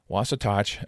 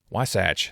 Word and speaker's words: Wasatch: Within the mark are nods to the state, including the Wasatach or Wasatch, excuse me, the Wasach mountain range.